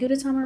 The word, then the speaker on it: Gudetama: But what I do like is Gudetama. Am I even saying Gudetama right? Japanese pronunciation, Gudetama.